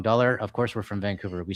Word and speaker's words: Vancouver: from Vancouver is that when you say Vancouver, um there's a little bit of a G after the N. Um and I guess that's how the locals say it, but if you're not from Vancouver, you just say Vancouver, right? Which is a little bit different.